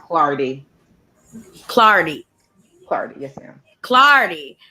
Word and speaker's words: Clardy: My last name is Yes, pronounced Clardy.